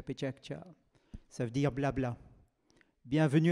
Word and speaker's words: PechaKucha: Pechakcha, ça s'écrit Pechakucha et ça se prononce Pechakcha, Pechakcha, Pechakcha.